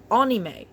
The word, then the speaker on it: anime: In Japan, it's pronounced anime.